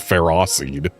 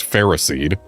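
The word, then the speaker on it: Ferroseed: And I believe the Pokémon that is officially pronounced Ferrosided, but that everyone knows should be pronounced Ferrade because it's Ferris.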